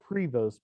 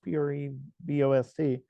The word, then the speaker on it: Prevost: and that company's called Prevo it's you see these as fancy RVs on the road it looks like Prevost puree Bost but it's pronounced in the French pronunciation Prevo they needed the